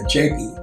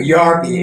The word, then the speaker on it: Japie: death of my dog, Japie, or Yarpie as it is pronounced in Afrikaans, since when I rescued